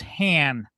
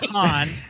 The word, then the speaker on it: Han: His name is Han, not Han. It's Han.